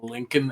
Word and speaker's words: Lincoln: thing, and she said it's because Germans naturally want to pronounce all the letters in the word. Yeah, most of us do. Yeah, I just learned enough English to know that it's Abraham Lincoln and not Lincoln.